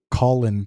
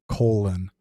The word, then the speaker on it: Colin: Colin says uh Colin Powell is dead and he pronounced it colon colon Powell.